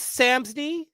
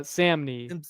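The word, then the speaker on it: Samnee: I would get Chris Samsy. Is that how you say his name? Uh, yeah. Uh, Samney.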